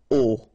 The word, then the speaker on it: au: You write it A-U, you pronounce it O, okay?